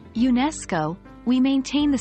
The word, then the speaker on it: UNESCO: UNESCO as an example in the full phrase United Nations educational scientific and cultural organization the stress falls on the second syllable of educational therefore when we say UNESCO we maintain the stress